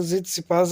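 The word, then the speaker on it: Tsitsipas: यह स्टीफेनो जत सपास यह जत सपास है टी साइलेंट रहता है अभी हाल ही में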